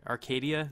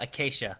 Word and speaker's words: acacia: these trees right here arcadia that's how you said it right uh acacia acacia you were close your time you said arcadia like the place up in maine and then there's um